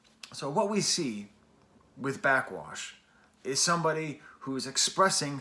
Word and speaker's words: Backxwash: now to understand how backwash is threatened just so you know you spell that with an x in the middle back x wash i don't know why